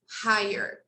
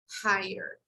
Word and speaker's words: higher: is only one observation this consonant here letter g is silent we do not pronounce when we speak we don't pronounce the letter g so we say higher higher we write letter g